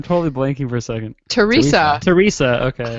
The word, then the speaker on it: Theresa: name then I'm totally blanking for a second Teresa Teresa okay say Teresa Teresa Teresa Explains It